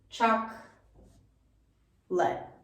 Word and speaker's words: chocolate: we do with chocolate so which of these vowels do you think we take out and don't fully pronounce it would be this second o here choc let chak le and we take this second o right out the same way that